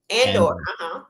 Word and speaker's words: Andor: Andor. Okay. Andor. Okay. So I feel like I've seen that a lot in elementary school. Andor. But go ahead. Andor. Like, Namor from Black Panther.